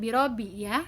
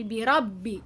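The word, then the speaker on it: بِرَبِّكَ: merupakan huruf tenggorokan disitu ada huruf-huruf yang bacaannya ditahan atau ditekan huruf mana saja yang di ayat pertama ini huruf ba dan Nun Kenapa ditahan karena disitu ada tanda tasdid Anda tanda double sehingga bacanya perhatikan biro by Robby bukan biro Biya tapi birobbika disitu huruf Hai banyak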